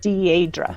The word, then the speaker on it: Deirdre: In the Gaelic, it's Deirdre, and it means deep sorrow, of all things. So I have a French accent mark over my E to make that E a long French, E.